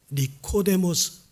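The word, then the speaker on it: Νικόδημος: 니고데모, 헬라어 발음이죠. 니코데모스.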